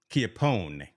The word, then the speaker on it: Chiappone: Chiappone.